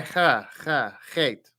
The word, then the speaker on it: chet: But the chet is very hard. Like the air has nowhere to go. So we say chet.